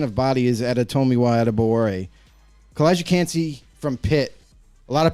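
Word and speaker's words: Calijah Kancey: I don't even know how to pronounce that either. What is that, Kalijah? Kalijah Cansey.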